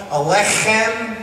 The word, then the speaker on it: aleichem: In order to say aleichem properly, I always tell people, pretend you have a bagel stuck in your throat and you're trying to clear it, because the accent is on the in alech.